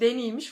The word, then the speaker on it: Denis: Yönetmen Denis Villeneuve, bu ara adamın adı Deniz değilmiş, Denis'miş. Fransızca bir isim olduğundan ben hep yanlış telaffuz ediyormuşum.